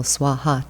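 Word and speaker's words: स्वाहा: fire offering syllable or more than one syllable swaha two syllables it's also the name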